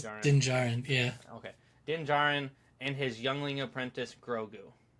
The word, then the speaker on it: Din Djarin: Okay, Din Djarin and his youngling apprentice Grogu.